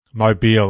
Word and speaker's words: Mobile: Now, correct me if I'm wrong with the pronunciation. It's Mobile Revelers. That was Mobile. Mobile.